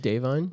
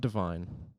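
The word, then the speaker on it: Da'Vine: upgraded to Accurate pronunciation what was it dine dine M yes not Divine or deine Dine Joy Randall from the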